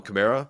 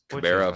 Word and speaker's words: Kamara: Alvin Kamara, he doesn't care how people pronounce his last name. Why should I? I know he's not going to correct people. It's Kamara versus Kamara.